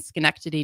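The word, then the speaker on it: Schenectady: Um after high school, I played lacrosse at Union College in Skenctity, New York for a couple of years.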